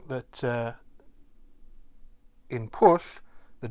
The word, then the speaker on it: pwll: So this is push. And in this case, the W acts as a vowel. So it's pronounced similar to a double O sound, so it's push.